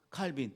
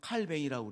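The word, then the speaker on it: Calvin: 요한 칼빈 또는 요한 칼뱅, 그 사람이 프랑스 사람인데 불란서식으로 발음을 하면 칼뱅이라고 그래요. 근데 영어식으로 말하면 칼빈.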